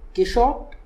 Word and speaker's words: Quichotte: I just finished reading Quichotte, as the author wants it to be pronounced, and this book may